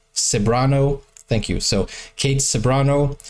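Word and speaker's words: Ceberano: also and the Beautiful Kate seano pronounced saano thank you so Kate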